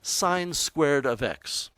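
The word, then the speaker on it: sin²x: what does this mean first of all it's pronounced sine squared of x what it means is sine of x quantity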